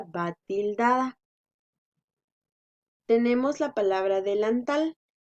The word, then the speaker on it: delantal: La sílaba tónica es tal. Ahí es donde hacemos la mayor fuerza de voz. Porque supongamos que la mayor fuerza de voz la hiciéramos en la sílaba lan. Entonces diríamos delantal. Y no es así, ¿verdad? Es delantal.